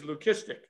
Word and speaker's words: leucistic: I don't know how to say this word, so I'm going to spell it out for you. It's L-E-U-C-I-S-T-I-C.